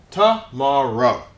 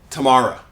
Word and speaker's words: tomorrow: exception if you'll notice this sound stays long this stays as tomorrow usually English speakers don't say Tamor well some people do but personally I think it sounds a little country and this brings up